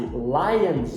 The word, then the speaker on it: lions: é Lion é baseado se você adicionar a letra s a um podemos baseado ele vai ter o som de Z Lion mais uma vez